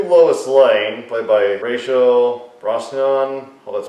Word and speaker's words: Brosnahan: The new Lois Lane, played by Rachel Brosnahan, well, that's how you pronounce it.